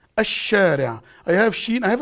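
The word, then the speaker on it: الشارع: Al-shari'. Al-shari'. As if there is no lam. But when you write it down, it's written.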